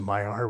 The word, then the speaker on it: Maillard: And I'm like, why the f are the L's in there if you don't pronounce them?